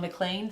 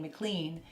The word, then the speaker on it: McLean: arcade we actually stopped in a place called mlan thank you for Kevin cuz you were the